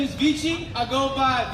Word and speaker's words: Vici: up nice to meet y'all my name is vich I go by PR you can spell that VI i c i I'm your first